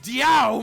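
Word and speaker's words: 屌: Dio, pronounced Diao, means penis in Chinese.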